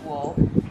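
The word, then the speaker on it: Wahl: oh i can't speak w-a-h-l has spelled i think it's war that pronounced wool these are a set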